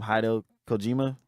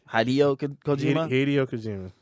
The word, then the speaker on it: Hideo Kojima: Hideo Kojima. Hideo Kojima. Hideo Kojima.